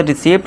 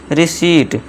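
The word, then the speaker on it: receive: जैसे कि seize either protein रिसीव ऐसे रिसीप्ट नहीं रिसीप्ट करेक्ट प्रोनाउंसिएशन इसका क्या है? रिसीव इसी तरह सीलिंग।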